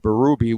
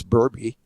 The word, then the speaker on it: Berube: there and you become louis pasaglia or craig berube when it's burby uh you can't you can't stop that well